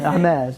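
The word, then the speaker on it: Hermès: it's like It's a Hermes. Yeah. Hermes, yeah. The letters are silenced because it's French. We don't like some letters. But we'll put them in there anyways. But you don't pronounce it.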